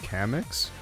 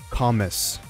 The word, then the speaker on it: Kamex: guys guys I know my name says cix but it's actually pronounced commas all right get it right thank you